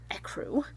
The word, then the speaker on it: ecru: I got it in the ecru.